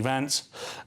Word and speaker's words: Vance: Republican side of things under J.D. Vance, which rhymes with pants.